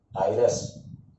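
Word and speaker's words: heiress: तो यहाँ पर उच्चारण जो है आप स्वर से कर रहे हो। किससे कर रहे हो? स्वर से। दिखने में तो आपको एच जो है वो कॉन्सोनेंट व्यंजन दिख रहा है, लेकिन उच्चारण किससे हो रहा है?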